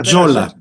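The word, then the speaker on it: Tzola: L A She's So in the poster I Jola Jolina Jola.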